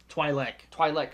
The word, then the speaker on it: Twi'lek: Twi'lek. Sorry, I hear him called, and so I thought that's how it's pronounced.